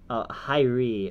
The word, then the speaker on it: Hyrie: Also, here's another Hyrie. It's pronounced Hyrie. Oh, Aaron Hyrie. It's European.